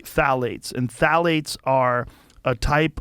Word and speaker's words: phthalates: And when the introduction of phthalates, it starts with a P, P-T-H-A-L-A-T-E-S, I think it's how you spell it. You say phthalates.